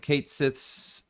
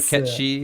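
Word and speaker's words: Cait Sith: like uh more like kate sith's uh sorry cat she is how you pronounce it oh catchy a lot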